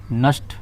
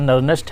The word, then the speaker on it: Nernst: इसको बोलते हैं सिंपल नस्ट, शॉर्टकट में इसको नस्ट इक्वेशन ही बोलेंगे, लेकिन इसका प्रॉपर जो प्रोनाउंसिएशन है वो प्रोनाउंसिएशन है नर्नेस्ट। तो प्रॉपर प्रोनाउंसिएशन नर्नेस्ट है, लेकिन उसे नेस्ट इक्वेशन भी पढ़ते हैं।